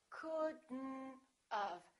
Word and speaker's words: couldn't have: Couldn've, couldn't-of. Don't pronounce the O, don't pronounce the T.